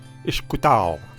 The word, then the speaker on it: Ishkutao: The Algonquin word for fire, pronounced Ishkutao.